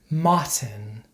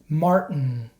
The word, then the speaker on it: Martin: look at some examples this is not how we pronounce these words in standard American English certain Buton Britain WR Martin Manhattan in American English we pronounce these words like this certain button Britain written Martin Manhattan so for example I'm